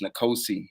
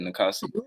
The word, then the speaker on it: niosi: who don't know me he did pronounce my name wrong my name is niosi he said nikosi but you know I